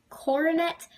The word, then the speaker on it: coronet: a cornet some people call call it kona coronet or cornet i pronounce it cornet people have different ways of pronouncing it it